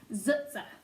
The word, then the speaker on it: TsTs: to our tsts character so I'll be pronouncing that as zutsa watched in disbelief as